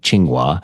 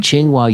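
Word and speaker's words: Tsinghua: I'm saying that correctly it's TS i n g h UA but played it and listened to different ways to pronounce it and it sounds basically like chingua chingua University in Beijing have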